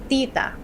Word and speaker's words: tita: Try putting a piece of paper in front of your mouth and it shouldn't move when you say it. Tita. Not Tita. tita, but tita.